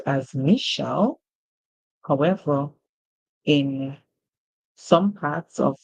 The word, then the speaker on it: Michelle: just be sure to use the most common pronunciation of the name which is Michelle like in the case of President Obama's wife